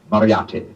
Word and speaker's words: Moriarty: I'm afraid I'll have to begin calling it the way it looks. M-O-R-I-A-R-T-Y.